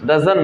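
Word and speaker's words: doesn't: और डजंट जो होता है डजंट, तो वो डजंट की जगह आपको डजंट नहीं बोलना होता है, डजन बोलने की आदत डालें, डजन ही कम, वाई डजन ही कम। तो यहाँ पे टी को साइलेंट लेके चलना होता है।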